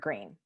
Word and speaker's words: Greene: My name is Greene. That's Green with a silent E at the end.